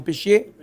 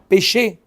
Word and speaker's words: pêcher: fait des pêches, un pêchier. Hein? Pêcher. Un pêcher. Pas un pêchier. Bien prononcé, hein, parce qu'après, tu t'entends mal.